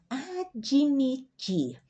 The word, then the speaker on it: admitir: Ó, observa aqui que aqui nós chamamos de demuda, uma consoante sem vogal, mas nós pronunciamos como fosse uma I. Ó, eu pronuncio admitir.